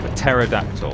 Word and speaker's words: pterodactyl: A pterodactyl. You have to pronounce the P. It's not silent.